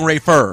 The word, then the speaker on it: Rayful: know body was seeing rayful Edmonds money and as I thought by the way and as I thought you are saying his name wrong I'm sorry rayful rightful where you're saying Rafer yeah but that might've